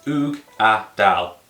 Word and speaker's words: Uigeadail: Ardbeg have given us some direction and it's Oog-a-dal, Uigeadail. Simple enough.